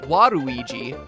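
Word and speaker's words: ワルイージ: even better in japan where his name is pronounced waruiji this wadui concept was potentially going to go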